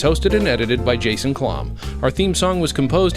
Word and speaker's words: Klamm: Well, what's funny is all the other Jason Klamms, who actually pronounce it Klamm, of all of them that I've found, about 3 of them are almost exactly my same age.